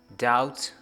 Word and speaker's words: doubt: lim thumb in bt series we say searle doubt doubtful death let's proceed next as c series